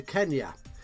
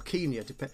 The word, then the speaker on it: Kenya: here has bought access into Kenya, or Kenya, which is the correct way of pronouncing it these days.